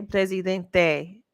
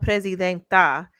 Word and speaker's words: presidente: Okay, presidente with an E at the end. That's how it's pronounced. It's presidente. but she has called herself presidenta, like making it like